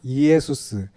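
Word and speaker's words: Ἰησοῦς: 구원자인데 짧고 간단하게 이제 축약을 하면은 성경이 기록될 당시에 헬라어로 이제 예수님의 발음 여기 쓰여 있는 헬라어를 그대로 발음하면은 이에수스예요. 이에수스.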